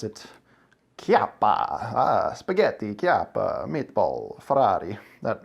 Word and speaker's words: Chiappa: made by Chiappa firearms and it is technically pronounced Chiappa sometimes I switched between capita and just because I'm I guess I don't care is really reason I don't pay much attention but it is Chiappa because it is an Italian family that owns